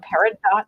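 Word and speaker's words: peridot: the pero sorry guys you might have heard it called paradot as well you can call it paradot that is not a problem I think I just kind of picked the for the French pronunciation of it does it sounds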